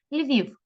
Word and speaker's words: Львів: Київ наголос падає на перший склад на і Львів кличемо слово щоб поставити наголос Львів Львів наголос знову падає На іта